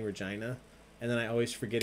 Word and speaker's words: Regina: When I said Saskatchewan earlier, but I was considering saying Regina. And then I always forget if it's Regina or Regina. But then I remembered. Remember? It rhymes with fun.